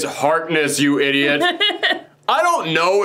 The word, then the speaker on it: Harkness: been screwed at me it's not harkins it's harkness you idiot i don't